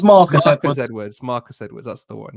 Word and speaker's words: Marcus Edwards: It's Marcus Edwards. Marcus Edwards. That's the one. Yeah. The Spurs player. Yeah, the ex-Spurs academy player that went to Sporting. To Sporting, isn't his name? Marcus Edwards. Marcus Edwards.